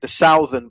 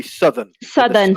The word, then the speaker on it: southern: understood the word, but you talked about the southern part of the city, but the pronunciation should be southern. Southern. Yeah. Yeah. Southern part. Yeah. So that's just an example I was saying where the vowel isn't quite there.